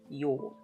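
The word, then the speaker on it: 曜: That's the kanji for weekday. is pronounced as your.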